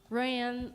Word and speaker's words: Royanne: Royanne, like Warren, that's okay.